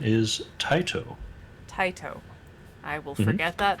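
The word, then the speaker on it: Tyto: Taito. Like, you know, the thing you tie around your neck, and then the things coming out of your feet, your digits. Taito. So T-I-E-T-O-E. Pronounced yes. Spelled T-Y-T-O. T-Y-T-O. I was incorrect on that. T-Y-T-O. T-Y-T-O. Alright.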